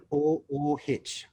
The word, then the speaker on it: RADIOOH: Radio, how do you say that? RADIOOH, which stands for Radio OOH, out of home.